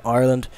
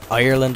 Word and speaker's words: Ireland: Well, first of all, if you couldn't already tell, I am from Ireland, or so many of you like to say Ireland. I don't know where you fabricated that third syllable from, but it's just something